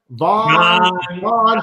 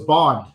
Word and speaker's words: Bond: No, it was dropped yes. So I usually say it's Bond, like James Bond, 007.